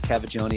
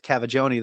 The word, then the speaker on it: Cavaggioni: A lot of people mix up mine as well with Cavaggioni. They're like, you're trying to figure out how to say it. And I'm like, it's said exactly how it's spelled.